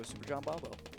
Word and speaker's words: Superjombombo: So Super John Bombo.